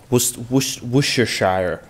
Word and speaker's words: Worcestershire: Worcestershire. Worcestershire sauce. Is that how it's pronounced?